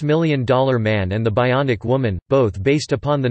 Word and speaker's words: bion: Steele in 1958, possibly originating from the technical term bion, pronounced bion, from ancient Greek, bios bios, meaning unit